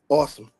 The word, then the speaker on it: Awsum: My name pronounce Austin. your name, sir? Awesome.